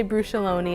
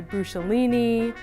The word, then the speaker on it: Bruciolone: becoming extinct I mean you say brew Salone and that's the most common way of pronouncing it as far as I can tell some people though I've heard say brew Cellini brush Eola like tons of different pronunciations and it took me